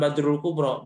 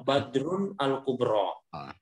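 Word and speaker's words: بدر الكبرى: all the father al-qubro Bacanya jangan Bob jangan Badru Kubro Badrun al-kubro Badrun al-kubro supaya nanti ya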